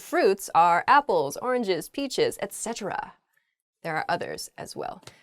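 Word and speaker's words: etc.: need a penguin suit Etc not Etc oh yeah okay I've heard I hear this EK EK thing a lot Etc is just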